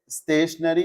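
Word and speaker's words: stationery: एक वर्ड है स्टेशनरी जिसकी स्पेलिंग है एस टी ए टी आई ओ एन ई आर Y. There is one more स्टेशनरी। We spells like this N ए आर वाई यह दोनों ही होमोफोंस हैं।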